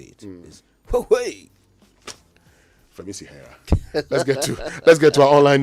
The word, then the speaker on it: Huawei: The pronunciation of Huawei, sometimes if you're not careful, you go and say Huawei and it becomes a problem.